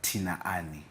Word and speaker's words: Tinaani: not is it a it's actually tinani tinani yes so people actually pronounce it like tinani tinani so you know